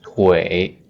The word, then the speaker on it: 腿: The word Twitter, if you can pronounce Twitter, you can pronounce 腿 Twitter 腿 It's legs.